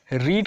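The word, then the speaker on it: read: रीड का तीनों रूप आपका रीड होता है, सिर्फ आपको प्रोनाउंसिएशन में फ़र्क होता है कि रीड का रेड और रेड बोला जाता है। तीनों फॉर्म में रीड ही होता है स्पेलिंग में, और बोला जाता है रेड।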